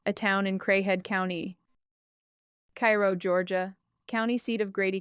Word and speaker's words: Cairo: Cairo, Illinois, pronounced Khei Row.